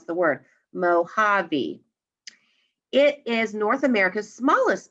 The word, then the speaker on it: Mojave: when a text is telling you how to pronounce the word mohavi it is north america's smallest desert it lies